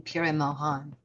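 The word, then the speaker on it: Pir-e-Moghan: So the G is not pronounced in the name Pire Mohan. Mohan, how the Iranis, the Zoroastrians from Iran pronounce it.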